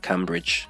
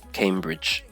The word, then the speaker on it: Cambridge: And then Cambridge, yeah, not Cambridge, it's Cambridge.